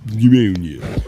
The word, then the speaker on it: pneumonia: Pneumonia. You don't you don't pronounce the P.